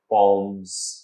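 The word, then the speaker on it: poems: कहें तब ठीक है, और पोएम्स की सही प्रोनाउंसिएशन है पोम्स, लेकिन इसको आप मेरे ख्याल से बड़ी मुश्किल हजम करेंगे, लेकिन कर लें, delta is right option, पोम्स।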